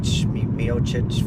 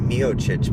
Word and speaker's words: Miocic: The Miocic fight. They pronounce it Miocic, but it looks like it should be pronounced Miocic.